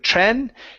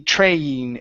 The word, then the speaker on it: train: our last sound is the long a sound in the word train instead of Tren Tren it's a train the quiet train car